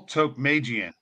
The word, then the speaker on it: Tokmajian: us today the owner of motivate Fitness Tok Magan hey welcome to the show hey Mike